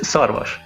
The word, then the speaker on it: Szarvas: It's Szarvas.